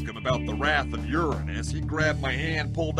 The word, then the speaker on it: Uranus: So, any more terrifying visions of Uranus? Non-stop. You know it's Uranus, not Uranus, right? Maybe here on Earth, but on Pandora, we use its original, funnier pronunciation.